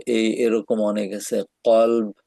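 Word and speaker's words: قلب: কলব ভার্সেস ক্যালব, কুকুর, আহ, মানে হচ্ছে ক্যালব, আর কলব হচ্ছে তোমার হার্ট, অন্তর।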